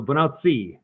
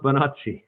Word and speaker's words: Bonacci: And so I pronounce it more Italian. So Bonacci is what I would say. Bonacci.